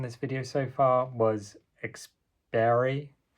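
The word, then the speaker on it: experiri: video so far was exper I can't pronounce that quite right this is Latin exper um e x p e r i r i which is a combination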